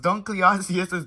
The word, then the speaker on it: Dunkleosteus: very long time ago pronounced dunkleosteus's Dunkleosteus the creature lived